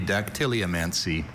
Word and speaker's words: dactyliomancy: I have only dactyliomancy.